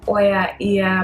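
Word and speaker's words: Oia: out so ear which some people are not pronounced as oya but that's the part of the island in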